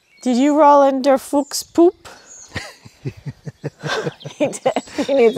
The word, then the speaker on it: Fuchs: Is it Fuchs or Fuch? Do you pronounce the S? In German? Yeah, Fuchs.